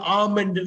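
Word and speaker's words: almond: ma'am இதை எப்படி படிக்கலாம் ஆல்மண்ட் இதை ஆம்ண்டு படிக்கணும் ரைட் அந்த முந்திரிப்பருப்பு ரைட்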